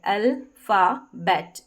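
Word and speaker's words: alphabet: बाद में ही स्पेलिंग को ब्रेक कर दिया, अल्फाबेट, इस तरीके से प्रोनाउंस करेंगे।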